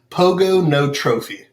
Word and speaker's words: pogonotrophy: close so it is pogonotrophy and the easiest way to nail it every time is pogo no trophy pogo it's kind of